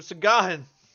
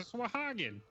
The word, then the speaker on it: Sahuagin: Sagahan? A Sagahan. No, you got me saying it wrong. It's a Sahuagin.